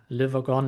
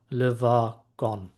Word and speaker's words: Le Wagon: Um so yeah liver gone it's pronounced liver gone right so this is now a little AI